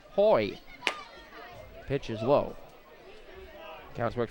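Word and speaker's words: Hoey: he's tell told me his name is pronounced Hoy pitch is low counts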